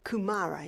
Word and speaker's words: kumara: The wild yam, sweet potato, you called it kumara, is that how you say it? Kumara.